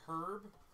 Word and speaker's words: herb: Wait, did you just pronounce the H in herb?